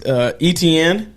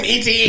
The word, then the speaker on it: Etienne: Yeah, that's how you what's the running back, Travis Etienne?